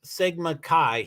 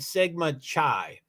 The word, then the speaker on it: Sigma Chi: but the captain um the captain mispronounced Sigma Chi he said Sigma Chai that may not be